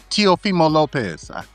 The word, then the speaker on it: Lopez: Lopez.